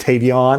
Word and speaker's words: Tavion: You know Tavion Banks, you know, I guess it's more pronounced Tavion, not Tavien.